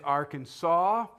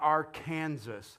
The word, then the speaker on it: Arkansas: It is illegal to mispronounce the name of the state. It is Arkansas, not Arkansas, period, okay?